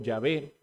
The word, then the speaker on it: Yahvé: v y la H que dirían los eruditos que es pronunciado yahvé y de esta manera